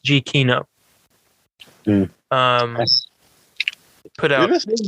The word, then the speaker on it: Giacchino: I heard that little score that Michael I think it's pronounced Giacchino.